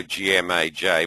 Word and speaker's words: GMAJ: It's a cheaper version, and GMAJ Pro, G-M-A-J, pronounced GMAJ, is our absolute top-of-the-line trading version.